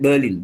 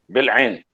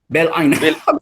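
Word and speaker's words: Bil'in: How do I pronounce that? Berlin, is it? Bil'ain. Bil'ain.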